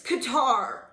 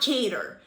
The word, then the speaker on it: Qatar: world oh and jensaki it's qatar not not cater it's a country not a freaking wedding so please learn how